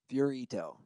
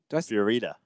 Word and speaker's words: Fiorita: Dude, first of all, I want to give a shout out to our good buddy, Guy Fiorito. Fiorita. Fiorita. I always say it wrong.